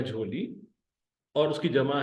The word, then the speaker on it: झोली: पहले हिस्से में तोड़िए झे वा जबर झो लाम ये जेरी ली लाम ये जेर ली झोली वही प्रोनंसिएशन जो उर्दू वाली है फर्क ये है